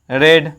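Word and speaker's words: read: Spelling इसका रीड, रेड, रेड ही होता है। स्पेलिंग तीनों V1 V2 V3 का स्पेलिंग सेम होता है, प्रोनाउंसिएशन अलग होता है, प्रोनाउंसिएशन अलग अलग होता है। इसको क्या पढ़ते हैं, V1 में पढ़ते हैं रीड, V2 में पढ़ते हैं रेड, और V3 में क्या पढ़ते हैं, V3 में भी रेड ही पढ़ते हैं।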